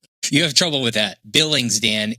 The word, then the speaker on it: Billings: Yeah, that's what I always mispronounce. Yeah. Billings, Montana. You have trouble with that. Billings.